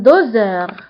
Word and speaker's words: doseur: فبالنسبة لان دوزور هنا اس نطقناها بحال لو سون زد لأنها جاءت entre deux voyelles جاء قبلها فويل وبعدها فويل فاس هنا ننطقها بلو سون زد ان دوزور.